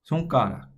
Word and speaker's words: 손가락: Okay, the first syllable, 손, is going to follow this structure. We already saw this S sound up here in bus.